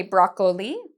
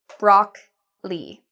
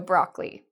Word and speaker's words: broccoli: They say broccoli, but it's actually just broccoli. The O here, it's quiet. It's a silent O. So broccoli.